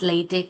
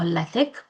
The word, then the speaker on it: LaTeX: So generally it's pronounced as latte or latic and it's a software